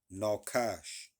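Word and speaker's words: נחש: around you all right serpent in Hebrew is pronounced noash all right meaning to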